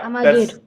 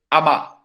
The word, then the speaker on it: Amager: And the crazy thing is, the way it's pronounced is ama.